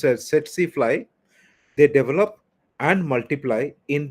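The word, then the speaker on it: tsetse fly: So tac tac it is pronounced as setsifly they develop and multiply in the midgut.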